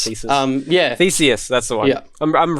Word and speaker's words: Theseus: No, Theseus.